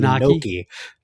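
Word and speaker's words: gnocchi: And everybody is up in arms about your pronunciation because it's supposed to be Noki. Noki.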